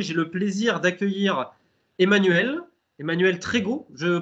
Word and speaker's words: Trégoat: Trégo hâte. Trégoat, je ne savais pas comment le prononcer. Voilà, si on dit le A, c'est un nom breton et on prononce A.